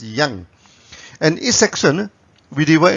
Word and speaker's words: yang: Some people pronounce it as yang. It's up to you, but in the original Chinese pronunciation it's pronounced as yang.